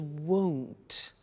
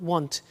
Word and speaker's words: won't: before you heard me with the money is won't be careful with the pronunciation it's not want its world so the example is I won't